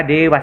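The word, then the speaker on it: देव: maksud saya pasti ini yaitu Deva tapi di bacanya juga Dewa Skeleton langit D bahasa Indianya Dewa tulisannya Deva terus kemudian kita lanjut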